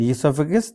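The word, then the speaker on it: oesophagus: So ego esophagus we the spelling is o e s o p h a gu. So you have to you know pronounce as esophagus.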